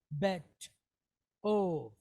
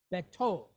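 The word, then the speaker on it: בטוב: So we have be, ov, bet, ov, all right? Betov. All right?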